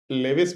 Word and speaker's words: Lewis: अभी तो लुईस बोलो, लेविस बोलो, मतलब लेविस भी बोल सकते हैं इसको, लेकिन लुईस ही बोला जाता है, लुईस डॉट स्ट्रक्चर, बट ये स्पेलिंग नहीं होता, LEWIS होता है।